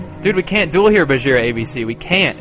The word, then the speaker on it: Bajheera: It's Bajheera. It's like spelled like Shere Khan. Like Shere Khan is Shere Khan. This is BajheeraCon would be cool, but it's actually Bajheera.